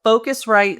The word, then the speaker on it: Phocuswright: So Focusrite. So that's a whole story as to why we spell it with a PH, but it's PHOCUSWRIGHT.